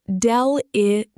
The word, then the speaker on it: deleterious: Deleterious, pronounced del-e-teer-e-ous.